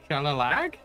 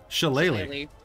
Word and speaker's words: Shillelagh: All right, so I'm going to use my bonus action to cast the cantrip, however you pronounce this. Shalalag? Shillelagh.